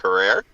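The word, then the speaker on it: Herer: way by the way Jack insisted that it be pronounced Hera like Tara but go ahead oh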